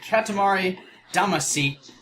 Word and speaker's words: Katamari Damacy: here we are starting the let's play and Katamari Damacy think it's how you properly laying that's how